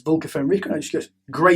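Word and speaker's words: Vlka Fenryka: Space Wolves or Velka Fenrica? Where do you stand on that? Let's be realistic. It's Vulca Fenrica.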